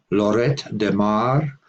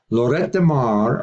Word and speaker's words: Lloret de Mar: an added final T Spanish speakers pronounced the final T in Lloret but French speakers do not interestingly the hear ona